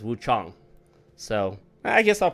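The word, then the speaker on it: Wuchang: Uh, Wu Chong, which I guess it's technically pronounced Wu Chong, Fallen Feathers, but everyone says Wu Chang, but if you put it into Google, how do you pronounce it says Wu Chong, so I guess I'll pronounce it correctly.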